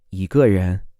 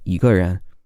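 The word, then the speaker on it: 一个人: The tone of the E changes to a second tone in this case, even though it's written with a first tone.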